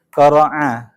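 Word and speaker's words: قرع: Yang pertama dia al-qari'ah ini dia dari kata qara'a. Pakai ain ya. Bukan qara'a, karena kalau pakai hamzah qara'a membaca. Kalau ini asal katanya qara'a.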